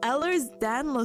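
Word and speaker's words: Ehlers-Danlos: P pronunciation. Hello, Google. Please help me. Google. Oh, Ellers. Oh, I'm sorry. Ellers's Danlo syndrome.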